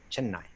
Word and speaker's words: Chennai: But okay, so since 3 years old, she has received years of rigorous training in Chennai, and I see you pronounce it really correctly, right? Chennai.